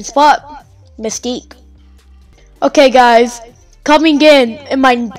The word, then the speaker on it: Mystique: Yeah, that's how you pronounce it, Mystique.